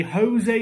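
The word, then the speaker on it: José: we'll have to learn people saying oh he's jose it's not jose he's not spanish all right jose jose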